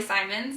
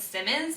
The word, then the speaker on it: Simons: So my name will be Simons, but for some reason everyone always thinks his last name is Simmons, even though it's spelled S-I-M-O-N-S. I don't know why, like Simmons would have 2 M's, but everyone always thinks it's Simmons, and everyone always thinks